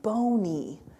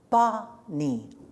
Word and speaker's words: Bonnie: And he says, no, it's not Boney. The dog's name is Bonnie.